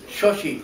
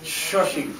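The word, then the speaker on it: Xochitl: Shoshi. Shoshi. Shoshi. Shoshi. With an X. Shoshi. Shoshi. The X is pronounced Shoshi. Shoshi. Like SH.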